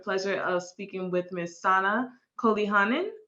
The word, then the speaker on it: Saana Koljonen: Today, I have the ultimate pleasure of speaking with Miss Sana Koljonen. I believe that is how I pronounce her name. Is that correct? Yeah, that's fine.